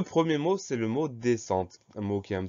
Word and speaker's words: descente: Ensuite, on a deux consonnes qui se suivent, S-C et qui se prononcent S. Donc le son S ici s'écrit avec un S et un C.